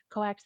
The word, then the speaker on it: coax: The office does not have what, Coax. How do you say that? Coax. Thank you. I was about to say Cox.